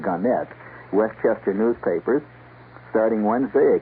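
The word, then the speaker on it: Gannett: Ganet or Garnet. They prefer to pronounce it Ganette.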